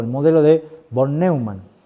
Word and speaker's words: von Neumann: conoce como la estructura o el modelo de von Neumann, o von Neumann, pronunciar así, que es uno de los que